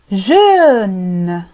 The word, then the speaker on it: jeune: jeune jeune نفس الشيء، شاب بالنسبة للمذكر نقول جون،